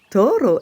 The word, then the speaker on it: Toro: jeune taureau nommé Taoro Toro aime que l'on roule le r lorsque l'on prononce son prénom car Toro est espagnol il vit au nord